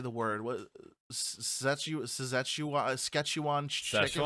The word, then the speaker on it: Szechuan: What Szechuan chicken? How do you say that? Szechuan. Szechuan. It's like session, but you say wan instead of un.